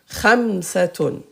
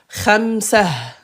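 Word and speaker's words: خمسة: Khamsatun. Et qu'est-ce qu'on a dit à l'arrêt? Ta al-marbouta se prononce ha. Ha. Tout ça prononce ha. Khamsah.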